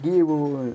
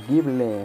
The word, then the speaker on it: Gible: Un Gible, o Gible, como se llame. Aquí Alex, pronunciaciones locas.